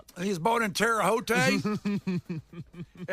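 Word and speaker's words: Terre Haute: Am I saying that right? Terote case. Yes, that's how you say it.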